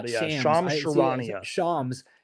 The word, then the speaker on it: Shams Charania: I always say it wrong. Shams Charania. I used to call him Shams Charnia or something. Not but yeah, Shams. Shams Charania.